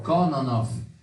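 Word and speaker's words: Кононов: Kononov, Kononov, non si dice Nov, la No, V in, no, in russo è F, no. Kononov.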